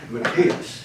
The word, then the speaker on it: Matthias: have a little trouble with making it work Matias is the name and you see if you